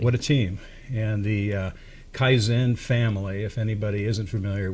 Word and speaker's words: Kaizen: with Anthony Hanks of Kaizen martial arts academy and fitness I think that's the way you pronounce that yeah you got it Kaizen is a two-syllable yes and I'll get